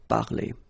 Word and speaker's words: parlé: And for the regular verbs like parler, it's quite easy, and phonetically it's the same. So, j'ai parlé.